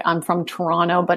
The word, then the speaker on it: Toronto: one you're toronto based the second t in toronto is silent you know well it is to torontonians yes yeah toronto i want to put